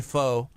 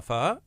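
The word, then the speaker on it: phở: And she said, you say it with like, it's like pho, but pho. You know, you say it like a question.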